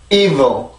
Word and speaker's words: evil: evil, evil, evil. 다시 한번 evil, evil, evil. 이렇게 발음을 해주셔야 정확한 evil이라고 하는 발음이에요. 절대 evil, evil 이런 발음이 아니고 강세도 넣고 리듬도 넣고 그래서 evil이라고 발음을 해주시면 됩니다.